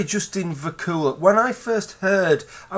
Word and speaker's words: Vacula: of disappointed to find out that it was Vakula I'm not one I'm not one to tell